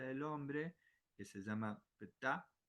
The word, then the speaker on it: Ptah: La frecuencia del hombre, que se llama Ptah, P-T-A-H, creo que la pronunciación es Ptah.